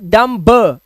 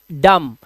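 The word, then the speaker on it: dumb: इसका मतलब होता है अंगूठा एंड डी यू एम बी इट्स नॉट डम ब इट्स डम और डम का मतलब होता है गूंगा।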